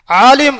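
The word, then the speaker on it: عالم: ஆலிம் என்று ஐனை ஒழுங்காக உச்சரித்தோமையானால் அவர் அறிஞர்.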